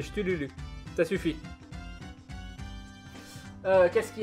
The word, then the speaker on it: Cthulhu: Ça se prononce pas Cthulhu, non. C'est Chtululu.